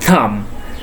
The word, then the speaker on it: thumb: Next one, THUMB. It also B after M. So the pronunciation is thumb.